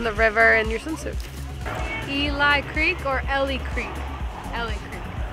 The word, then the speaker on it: Eli Creek: Our next stop is Eli Creek, not to be confused with Ellie Creek, because it's spelled exactly the same as Ellie's name.